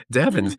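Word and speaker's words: Devens: Devon's. It rhymes with heavens.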